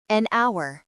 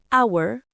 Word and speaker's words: hour: 1 heure hour on n'entend pas le son h dans hour donc on utilise n l'article définit the 1.